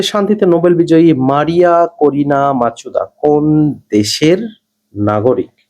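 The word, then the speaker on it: Machado: 2025 সালে শান্তিতে নোবেল বিজয়ী মারিয়া করিনা মাচুদা কোন দেশের নাগরিক? নামটা একটুখানি সাবধানে উচ্চারণ করতে হবে। মারিয়া করিনা মাচাদু।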